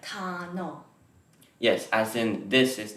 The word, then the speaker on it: 단어: Because this circle-shaped consonant is silent, we kind of pronounce it like 단어.